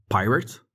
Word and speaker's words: pirate: de figures à retenir soit tu as un nom avec deux syllabes donc là il faudra accentuer la première syllabe comme par exemple pirate ou soit tu as